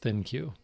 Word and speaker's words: ThinQ: the lg thinq app that would be think with a q so maybe i should pronounce it thank you i really don't know i think it is pronounced thin cue anyway this terrible app